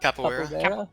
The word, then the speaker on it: capoeira: Capoeira?